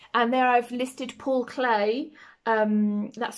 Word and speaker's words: Klee: It might be that I want to look at mark making, and there I've listed Paul Klee. That's spelled K-L-E-E, who was quoted as saying, "A line is a dot that went for a walk."